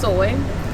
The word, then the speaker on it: SOI: So SOI is ultimately pronounced soy, and our hashtag is soy, where self-care matters most.